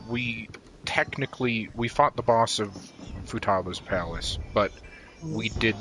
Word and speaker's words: Futaba: pronounce her name. Futaba.